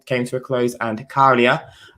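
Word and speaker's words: Käärijä: to a close and Carlia uh that's how you say his name Carlia has one with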